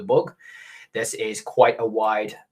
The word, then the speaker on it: Bug: from my understanding it's it's just spelt in english or in russian like bug so i pronounce it the book this is quite a